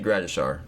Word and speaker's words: Gradishar: Is it Gratishar or Shar? Share or shar Grades or Gratishar? Shar. Is it Shar? Am I saying it right? Like SH. All right, bet. Randy Gratishar.